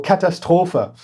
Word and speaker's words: Katastrophe: Oh God, I half German pronounced and half English pronounced that. Katastrophe. Or Katastrophe in German.